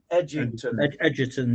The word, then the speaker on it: Egerton: Egerton, yeah, that's how it's pronounced, yeah.